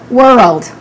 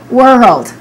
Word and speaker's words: world: So the first part, remember, is whir, and then you can imagine, for example, the word rolled or rolled. This word doesn't exist, I'm just making it up. And now let's combine these two elements and let's say whirled. I'll say it slowly again. Whirled or whirled. Now let's say it naturally. World. World.